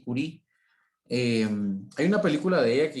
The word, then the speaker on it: Curie: que se llama yuri realmente así como ustedes lo ven aquí se escribe verdad solo que se pronuncia marie curie hay una película de